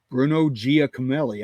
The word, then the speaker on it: Bruno Giacomelli: Bruno Giacomelli, I believe that's how you pronounce his name.